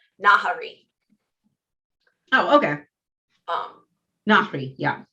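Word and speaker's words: Nahri: say figure out how to say her name nahari oh okay um yeah not harry well and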